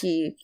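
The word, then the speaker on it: Qi: Oh, and by the way, it's Chi, Q-I. I'm pronouncing it Chi, because, I don't know if Nick is Chinese, but, in Chinese, you pronounce that Chi. You pronounce Q like a CH sound, kind of.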